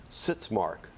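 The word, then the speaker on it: sitzmark: word for the round is going to be sits mark sit Mark am I pronouncing it correctly yes sits Mark s i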